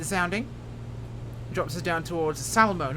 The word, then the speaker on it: Salmo: drops us down towards salmon not Salerno salemo I've been pronouncing like Salerno in Italy Salmo which is just on the Canadian side of the Border here kicking around